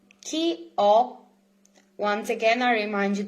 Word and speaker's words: ho: Chi ho. Once again, I remind you that the H is mute, is silent in Italian, so it's just o.